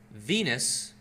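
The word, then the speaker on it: venous: Well, he knows that Venus vein rhymes with Venus penis.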